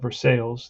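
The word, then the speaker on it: Versalles: First, now I remember how to pronounce it. I looked it up, Versailles, but that was a law.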